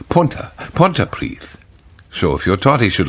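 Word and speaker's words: Pontypridd: these at which he mispronounces Welsh place names such as pontyprid is a general giveaway it's Punta Punta priest so if your tati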